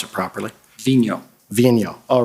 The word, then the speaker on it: Vigneault: We've all been debating about how to pronounce it properly. Vigno.